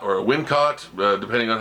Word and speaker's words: Wincott: There's a really incredible sort of mysticism part where the main villain, played by Michael Winsott or Wincott, depending on how you pronounce his name, who's an amazing character actor.